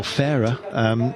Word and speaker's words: Farrar: Tyler Farrar, or Farah, which was ultimately the correct pronunciation of his name, bless him, for Garmin Sharp was in there.